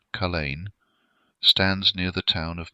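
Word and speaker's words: Culzean: and the supernatural entwine culian Castle pronounced Cain stands near the town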